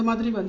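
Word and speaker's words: mǎ: அப்படின்னா நம்ம இறக்கி திருப்பி மேலே ஏற்றி சொல்லணும், மா அப்படின்னு சொல்லணும்.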